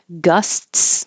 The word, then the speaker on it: gusts: syllable all by itself gusts we don't have to say s TS we just ski the T Gus and then uh we